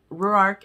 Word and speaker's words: Ruark: from a hero that i've ever read um ruark is our hero it's very hard to pronounce it's r-u-a-r-k and the way that shanna